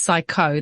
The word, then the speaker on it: psycho: of the others, even psychosis, because if it's spelt with a P. Whenever I prescribe the psychotico bowel nosode, it's psycho.